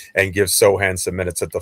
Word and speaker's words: Sochan: And not because I don't like Sohan.